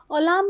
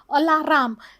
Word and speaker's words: alarm: Alarm is pronounced as alarm, and somewhere the people they pronounce alarm, alaram.